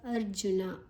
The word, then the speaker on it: ಅರ್ಜುನ: ಉಚ್ಚಾರಣೆ ಹ ಅರ್ಜುನ ಉವಾಚ ಅರ್ಜುನ ಅರ್ದ ಬೊಕ್ಕ ಜು ಜೂರ್ದ ಬೊಕ್ಕ ಋ ಅರ್ಕಾರ ಒತ್ತೊಂಡು ಅರ್ಕಾರ ಒತ್ತು ಋ ಜೂರ್ದ ದುಂಬೆತ್ತುಗ ಅರ್ಜುನ ಉವಾಚ ಉವಾಚ ವ